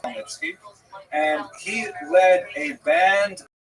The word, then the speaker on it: Khmelnytsky: You may have seen his name in the literature spelled with a CH, a Polish spelling, Chmielnicki, but it's pronounced Khmelnytsky.